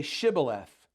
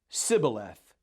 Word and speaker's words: shibboleth: would say to him then say shibboleth and he would say sybileth for he could not pronounce it right then they would take